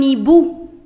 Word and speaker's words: hibou: Un hibou. Un hibou. Hibou. H is the silent letter in French. So do not say it as hibou. No. Un hibou.